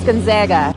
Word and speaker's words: Gonzaga: First off, let's do some proper pronunciation. Gonzaga or Gonzaga? Gonzaga.